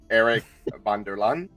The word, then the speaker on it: Eric VanDerLaan: So, my name is Am I going to be able to pronounce this in the Dutch way? Eric Vanderlan.